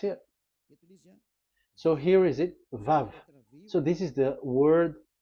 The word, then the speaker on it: vav: So according to the old Hebrew word today, those who, the owner of the words, I mean, so it's a V. So don't change it into W.